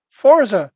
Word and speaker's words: Forza: that have happened recently, Forza Horizon 5. Sorry, correct yourself. Nope. Forza Horizon 5. There is no T in it.